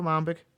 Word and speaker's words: lambic: a Flemish sour so it's a Lambic with or lomic depending how you want to pronounce it without the fruit so